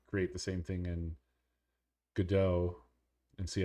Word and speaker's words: Godot: I thought it was Godot because it's kind of like robot, and their little mascot is a robot, but their official tutorial guy is he pronounces it Godot.